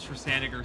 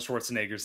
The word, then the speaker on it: Schwarzenegger: I'm gonna fucking just stride over like Arnold Schwarzenegger sprint up to this guy, and I'm gonna just hit him as hard as I can with my fucking fists.